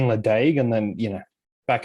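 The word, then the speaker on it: Ledaig: industry here and then someone's pronounced as leche one day and i was just like you mean ladague and then you know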